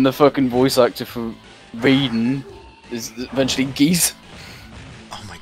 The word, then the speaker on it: Raiden: Ridden? What, did it say ridden? Yeah. I am ridden! I am ridden! Excuse me, it's pronounced Raiden.